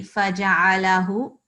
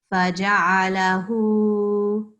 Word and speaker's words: فجعله: So when we recite, we don't say faja'alahu, it's not that, it's faja'alahu. Okay, can you repeat that? فجعله. Good. So it has to be a little bit longer than you would normally do.